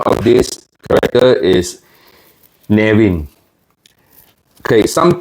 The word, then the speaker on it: Neamhain: the correct pronunciation is nin the M and H is actually pronounced as W it's an Irish name